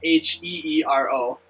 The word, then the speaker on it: Heero: Oh no, that would be H-E-E-R-O, right? Is it really? Yeah. That's really weird, because in Japanese that would say Heero. Yeah, and I think that's how you're supposed to pronounce it.